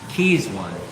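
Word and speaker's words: Keis1: going on with keys that's k-e-i-s-one Keys one is how you say it how do you get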